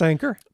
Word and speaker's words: Anker: which oh yeah I I don't know if they pronounce it Anker or Anker because I've heard both I think it's anchor but I've always said ankor because that's the way it appears uh but yeah I